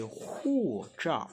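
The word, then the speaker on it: 护照: Passeport en chinois, c'est Hu Zhao. Hu Zhao. Hu Zhao. Écoutez, imitez ma prononciation, répétez après moi, mettez la pause, répétez.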